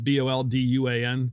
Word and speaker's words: Bolduan: It's Bolduan. Sorry, Kate, if I got your name wrong.